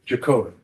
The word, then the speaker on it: Jagotka: Jagotka. Spell that.